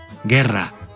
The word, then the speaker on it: guerra: La U que sigue a la G ante las vocales I y E no se pronuncia en español y sí en italiano, como en Guerra.